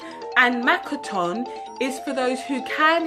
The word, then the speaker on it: Makaton: Makaton is spelt M-A-K-A-T-O-N. Makaton.